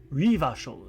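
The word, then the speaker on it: Revachol: Rivashol is pronounced that way.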